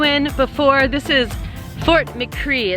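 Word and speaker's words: Fort McRee: before this is fort mccree it's from mccree a lot of people pronounce it mccray uh and it was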